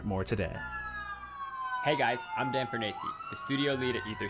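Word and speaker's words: Dan Fornace: Also, yes, that's actually how his name is pronounced. It's Dan Fernacey.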